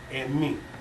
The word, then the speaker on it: emi: The closest thing that we have found that is referred to as the concept of soul is the word "emi." And me. Emi. How you spell that?